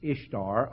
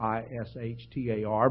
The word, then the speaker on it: Ishtar: The spelling, if you transliterate it from the Babylonian, is Ishtar, Ishtar, but they pronounced it the same way.